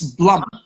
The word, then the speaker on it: Blum: I just want to make sure that I'm pronouncing your last name because I've been always calling you Deb or Deborah it's Blum Blum correct right yeah and there's a funny